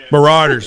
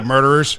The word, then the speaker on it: Marauders: of you mispronouncing things, it's Marauders. Marauders. Marauders. What I say, murderers?